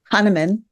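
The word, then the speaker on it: Hahnemann: She is a graduate of the University of Notre Dame and can you pronounce that for me? Ha. Han Hannan Hanaman.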